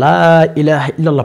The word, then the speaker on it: লা ইলাহা ইল্লাল্লাহ: লা ইলাহা ইল্লাল্লাহ পাঠ করার কারণে সেজন্য আমরা লা ইলাহা ইল্লাল্লাহ পাঠ করতেই থাকবো অনেকে লা ইলাহা ইল্লাল্লাহ পর্যন্ত